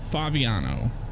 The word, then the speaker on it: Favignano: Braden, it's pronounced Favignano.